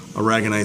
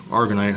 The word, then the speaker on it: aragonite: As far as the sand goes, I'm just using a Carib Sea reef grade aragonite sand, or argonite, however you want to pronounce it.